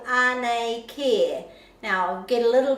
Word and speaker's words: Anei Kē: So Anei, and then this is a long air, Kē, Anei Kē, and just really listen. The children will always pronounce that correctly.